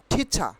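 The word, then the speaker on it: teacher: আমরা টিচারের উচ্চারণ করব ঠিচা। আর উইল বি সাইলেন্ট হেয়া, আর উইল বি সাইলেন্ট হেয়া। কি হচ্ছে? আর এখানে সাইলেন্ট থাকবে। তাহলে আর যদি সাইলেন্ট থাকে, তাহলে টিচারের উচ্চারণ হয় ঠিচা।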